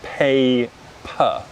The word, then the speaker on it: Peppa: so peppa good so in british english pronunciation we pronounce we pronounce as pay per pay per good so notice how we unstress that second syllable and the mouth doesn't open and we use the schwa son per per good so